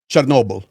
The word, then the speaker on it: Chernobyl: How would you pronounce So it in Ukrainian? Chernobyl. Oh, okay, so it's close. I mean, I didn't realize so it was that close.